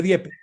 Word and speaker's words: Dieppe: Se escribe Dieppe.